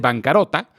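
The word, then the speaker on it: bancarotta: La palabra viene del italiano, que se pronuncia casi igual al español, se dice bancarrota, aunque curiosamente en español lleva doble R, mientras que en italiano lleva una sola R pero doble T.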